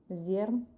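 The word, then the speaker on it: Zjarr: Zer.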